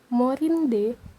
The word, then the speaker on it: Morindae: Jadi dengan ketentuan pertama tadi, AE itu dibaca E. Jadi ini cara membacanya adalah Morindae citrifoliae fructus.